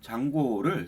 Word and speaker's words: Django: 그리고 장고를 설치를 하고 싶으면은 여러분들 폴더는 다시 단톡 폴더로 갈게요. 여기서 pip install 장고라고 d장고 d는 묵음이죠.